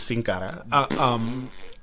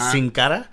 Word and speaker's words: Sin Cara: So kickoff show, Andrade Cien Almas versus Sin Cara.